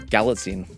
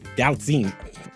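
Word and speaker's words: Galitzine: Gallatine. Gallatine.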